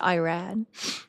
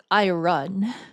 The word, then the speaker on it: Iran: We have to pronounce it Iran. as opposed to I run.